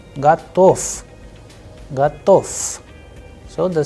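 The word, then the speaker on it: готов: Then the sound of ve changing into f, gatof, gatof.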